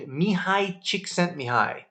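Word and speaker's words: Mihaly Csikszentmihalyi: Flow is a book by a famous psychologist named Mihai Csikszentmihalyi. I even pronounced it right.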